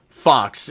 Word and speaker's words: Faux: that includes me like my last name is Fox it's spelled faux which most people pronounce foe I'm not just unfamiliar